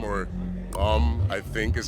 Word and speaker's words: gqom: Uh I don't know if it's pronounced gqom or gqom, I think is how it's pronounced.